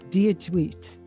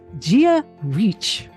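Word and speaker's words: Dia dhuit: I always thought that the Gaelic hello was pronounced dear tweet d-i-a-d-h-u-i-t right okay I come to find out that it's Gia reach so it's dear reach Z with a g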